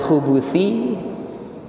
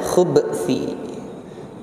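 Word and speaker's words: الخبث: Tadi sudah secara singkat kami singgung, ada dua pengucapan, yaitu al-khubuth, minal khubuthi, dan minal khubthi. Dua-duanya itu benar.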